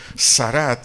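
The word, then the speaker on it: sharat: a fondo esta palabra ministraba del vocablo hebreo sarat s h a r a acento en es a t dtt sarat su su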